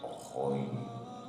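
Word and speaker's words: غ: À ne pas confondre bien sûr avec Roin. Roin. Roin. Si vous voulez, comme ronfler. Ronfler.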